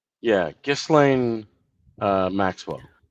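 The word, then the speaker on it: Ghislaine: Uh, it's Gain. Gain is French. Yeah. Gistlane.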